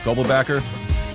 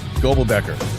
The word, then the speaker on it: Goebelbecker: Special thank you to our guest Eric Gobelbacker. And we are Look, I said it wrong. I know it. I see him I see him nodding his head in the backstage there. Gobelbacker. There we go.